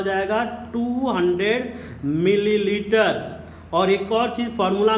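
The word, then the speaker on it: molality: Spelling में difference है, pronunciation में डिफरेंस है, ध्यान दीजिएगा। दिस इज मोलालिटी, और इसको हम लोग कैसे रिप्रेजेंट करते हैं, स्मॉल m से रिप्रेजेंट करते हैं।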